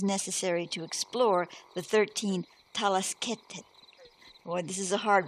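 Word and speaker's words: Talaskhet: In order to understand the 14 Yurga permutations, first it is necessary to explore the 13 Talasketet.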